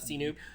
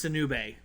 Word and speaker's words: Sinube: Oh, is that Sinoop? Nope, it's Sinube.